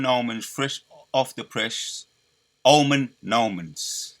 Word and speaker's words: Omen Nomen: Omen Nomens. That's how you say it. It's Omen Nomen.